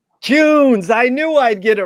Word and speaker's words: Kuhns: That rhymes with prunes. Is that right, Bill? Kuhns. Kuhns.